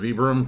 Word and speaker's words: Vibram: This is not a Vibram or Vibram sole, which I recently learned is correctly pronounced Vibram because that was the guy's name who created it, but that's another story.